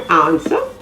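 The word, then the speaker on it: answer: is right r-i-g-h-t other silent w words are ansa a-n-s-w-e-r sword s-w-o-r-d to t-w-o w is also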